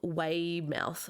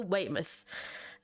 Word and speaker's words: Weymouth: say this, Tynemouth to Weymouth or Weymouth. Weymouth. Because it's spelt mouth, like Mouth. Yeah, I think it's myth. It's myth, I think so as well. Yeah. From Tynemouth to Weymouth, confirmed that they had